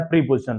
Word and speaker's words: preposition: ठीक है, तो इसको इसका उच्चारण क्या होता है, इसका उच्चारण होता है प्रपोजिशन।